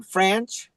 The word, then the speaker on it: Franch: you say your name French French yep like Ranch but with an F that's awesome what does